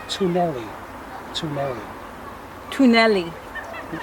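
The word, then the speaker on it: twneli: The fifth word means tunnels, it's tunnelli.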